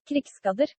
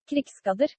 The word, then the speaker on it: Krigsgaldr: I actually found a way to pronounce it, and I've already butchered it. It was supposed to be Krigsgaldr. Krigsgaldr.